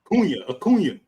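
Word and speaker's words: Acuña: his name sound like tuna, rhyme with tuna. Acuna. Yeah. Acuna.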